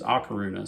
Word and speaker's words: A Coruña: lock Runa Spain uh Laruna pronounced in Spanish and then the galatian pronunciation is araruna so you might see